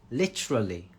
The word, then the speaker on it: literally: Literally, that is a tough one because litra, got the r. Literally. 3 syllables.